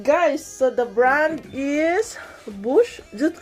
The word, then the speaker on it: Bosch: so that's it guys so the brand is bush just right pronounced that part it's not clean because i